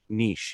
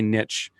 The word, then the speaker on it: niche: can tell you're thinking niche. You're thinking outside the box. Americans say niche. Canadians say niche. I don't see how you can call that word niche, though. There's no T in it.